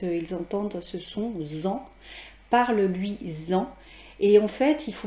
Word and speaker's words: parle-lui-en: entendent ce son en, parle-lui-en. Et en fait, il faut mettre à l'écrit des tirets, bien sûr. Et bien sûr, on entend un Z, mais bien évidemment, ça ne s'écrit pas Z-A-N.